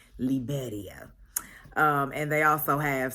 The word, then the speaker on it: Liberia: made sure to let us know that it's pronounced liberia um and they also have san jose which